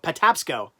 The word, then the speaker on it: Patapsco: loss Oh ray says pad tap scope Patapsco that's a say it Patapsco I remember the video